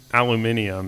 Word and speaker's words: aluminium: people always uh say like oh Americans don't speak the right way like you just leave out a whole syllable in Alum aluminium is how they say it but in American English we actually don't have that syllable spelled which is why we don't say it it's a little different